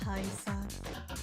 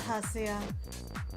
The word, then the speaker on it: Hasuya: Damn that Haisa. Or Hasuya. I keep saying his name wrong. Oh my goodness. Damn that Hasuya.